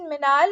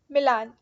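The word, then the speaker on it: Milan: पहला ऑपरेशन मिनाल और sorry why डू I pronounce मिलान, okay it's मिलान।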